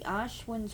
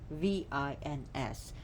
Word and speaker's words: Ashvins: And the Ashwins are the divine twins. Ashwins, or spells Ashvins.